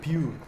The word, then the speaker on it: Pure: Мне кажется, говорить правильно. Pure.